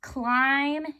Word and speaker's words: climb: And then remember that climb is that tricky word. Okay, that MB sound, it's not making the B sound, it's not making Bouncing Ben sound, so it just climb.